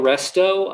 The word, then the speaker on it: Resto: Aaliyah Resto, I love that name because it rhymes with pesto.